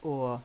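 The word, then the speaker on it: o'er: she Shakespearean II stuff we do tend to say or for over okay because over has two syllables over but or has just the one so or the stream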